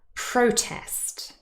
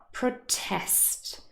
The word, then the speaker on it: protest: is not the same with the nouns the stress is on the first syllable protest record suspect but if these words act as verbs the stress is on the second syllable protest record suspect and there